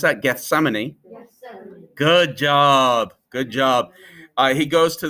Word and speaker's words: Gethsemane: Can you pronounce that? Gethsemane.